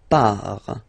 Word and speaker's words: pars: So the first form is je pars. So final S not pronounced. Je pars.